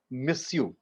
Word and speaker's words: monsieur: So it is monsieur, but when we pronounce it in French, it is monsieur, monsieur.